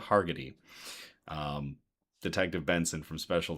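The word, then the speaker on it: Hargitay: So, it's definitely the Marissa Hager uh I always get her name her name wrong. It's Marissa Hargetty um Detective Benson from Special Victims Unit.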